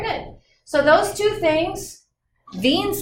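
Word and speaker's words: Wien: so those two things beans law the w s-- pronounced as a v germany was the one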